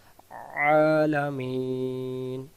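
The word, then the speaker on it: العالمين: গেলে আমাদেরকে বলতে হবে আলামিন আলামিন লামের উচ্চারণটা হারকাত তাড়াতাড়ি আলা মিন মিন টান দিতেই হবে কেউ যদি আমরা মিন টান না দেই এই জায়গায় অক্ষরটা বাদ চলে যাবে তাহলে সূরাতুল ফাতেহা প্রতি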